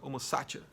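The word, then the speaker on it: homo sacer: o homo satier certo a pronúncia correta seria homocácia tá Tem gente que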